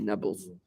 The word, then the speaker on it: Nablus: The locals can't pronounce it P, so they pronounce it as a B, Nablus.